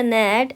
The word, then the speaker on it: gnat: Fourth one इज द idiom to strain एट अ नेट एंड swallow a camel. GNAT, यहाँ पर G silent है।